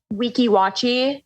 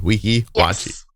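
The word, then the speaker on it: Weeki Wachee: It's called Weeki Wachi.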